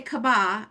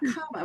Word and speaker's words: Kabba: I was like, remember to say Kabba and not Kabba because I've been in my head, I've been saying People say both.